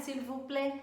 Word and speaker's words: s'il vous plaît: Mas você não ouve o S do vous, você não ouve o T do plaît, né? S'il vous plaît, você não ouve isso.